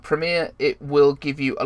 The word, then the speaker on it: Premiere: Now, many YouTubers also use Adobe Premiere, which is I don't know why I said Premiere. That's how Americans say it. Adobe Premiere.